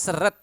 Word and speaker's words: seret: Last one in this lesson is seret. Seret. Seret. Seret. So both E is pronounced as E and you need to pronounce the consonant clearly.